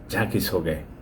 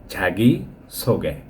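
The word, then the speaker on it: 자기소개: খুব স্মার্টলি বলতে গিয়ে অনেকেই বলে ঝাঁকি ছোগে ঝাঁকি ছোগে না ভাই ঝাঁগি ছোগে ঝাঁগি ছোগে অর্থাৎ নিজের পরিচয় যাই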